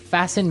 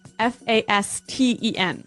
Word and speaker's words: fasten: It's spelled F A S T E N. Right. So, it would be fasten. No. No. Right. Fasten. Fasten. The T kind of becomes silent.